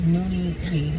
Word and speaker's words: Noonie B: You say it right. It's Noonie B.